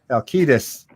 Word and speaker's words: Halkitis: I'm going to keep saying it that way because I was informed yesterday that I've been mispronouncing his name every time we had him on. I feel so bad. Halkitis.